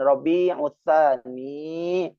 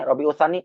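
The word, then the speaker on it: ربيع الثاني: Jadi kalau cuma ditanya bulan apa ini rabiutsan hilang banyak itu hurufnya maka hilang berkahnya maka kita namanya juga tabaruk ngalap berkah.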